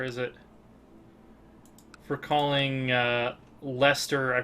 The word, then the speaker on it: Leicester: For calling uh Lester I pronounce Yeah, there it is. I pronounced it as Lchester, which I believe is correct in Middle English um but not in modern British English.